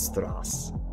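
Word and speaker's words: Straße: It's Strass.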